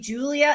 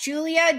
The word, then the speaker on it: Julia: So I have always understood Julia, not Julia. Julia. Sorry, that's a Big Brother reference. Julia. Julia. Julia. So I see it as three syllables.